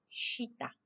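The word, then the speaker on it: 下: Thì cách đọc đúng của chữ này là chữ gì? Shita.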